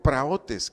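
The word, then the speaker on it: πραΰτης: Mansedumbre, del griego praotes, con acento en la O, que significa gentileza.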